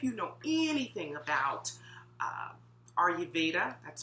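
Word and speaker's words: Ayurveda: days now if you know anything about uh are you veda that's spelled a a-y-u-r-v-e-d-a then you will learn or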